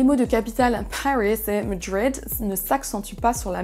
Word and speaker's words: Madrid: Attention également à la prononciation de la première syllabe de Madrid. Vous n'entendez pas Madrid, ce n'est pas un A, mais un E qu'on va prononcer.